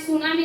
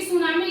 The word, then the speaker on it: tsunami: दो शब्द सु और नामी, टी इसमें साइलेंट रहता है।